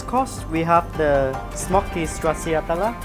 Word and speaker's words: Stracciatella: For the next course, we have the smoky stracciatella. How do you pronounce the cheese?